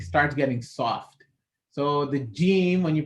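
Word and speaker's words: جيم: Before you say the Jeem, the air actually fills up. Jeem. So you can't just pronounce the Jeem without letting that air actually first gather up and then go. So there shouldn't be any area left on the top, otherwise a Jeem will not come out.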